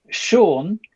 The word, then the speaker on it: Shaun: Shaun with a silent H.